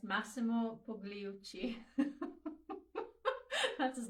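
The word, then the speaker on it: Pigliucci: How do you pronounce his last name? It's Massimo Pugliucci.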